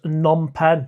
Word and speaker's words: Phnom Penh: It's pronounced Phnom Penh.